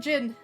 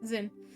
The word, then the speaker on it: Zin: I will call him Zin. I can't stand it either. But that is the literally the actual way to say his name is Jin.